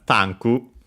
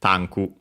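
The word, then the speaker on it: タンク: could be pronounced as tanku even in Japanese without the with the barely heard if at all because the preceding consonant is unvoiced and it's at the end of the word.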